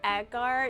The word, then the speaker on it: agar: It's pronounced agar.